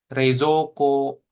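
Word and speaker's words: 冷蔵庫: Nah, kemudian Ginko, Reizoko gitu ya. Kemudian sama Kyoshitsu, Kyoshitsu. Jadi cukup O-nya dibaca, U-nya nggak usah. O-nya panjangin dikit.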